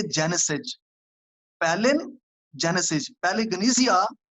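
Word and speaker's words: palingenesia: लफ्ज है पिलिग्नेसिया। ये ग्रीक का वर्ड है। मैं दोबारा इसके स्पेलिंग भी आपको इंग्लिश में बता देता हूं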